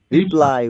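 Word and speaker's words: replay: তো পুনরায় ভাবতাম এখন ও না ওটা হচ্ছে রিপ্লে ওটা হচ্ছে রিপ্লে আর এটা রিপ্লাই ওটা কিন্তু রিপ্লে পুনরায় যেটা চালু করার কথা বলছেন ওটা রিপ্লে আরেকটা হচ্ছে রিপ্লাই মানে উত্তর দেওয়া এটা হচ্ছে মৌখিক উত্তরের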